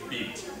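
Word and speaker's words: B't: And that's how it's pronounced, Beat.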